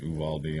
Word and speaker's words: Uvalde: lived we had a town that was called uvalde but i've heard him pronounce it uvaldi i don't know uvalde yeah in texas i